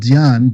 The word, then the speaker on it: Dhyan: There's a word called Dhyan, D-H-Y-A-N, that's from the Himalayas. It means pure consciousness. When it came to China, they pronounced it Chan. And when it came to Japan, they called it Zen, but it's the same word, Dhyan, Chan, Zen.